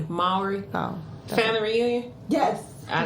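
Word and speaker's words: Mowry: Tia Lowry? No, Maury.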